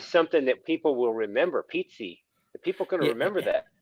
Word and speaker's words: Pizzi: Came From Italy that that's how you pronounce in Italy pizza uh but over here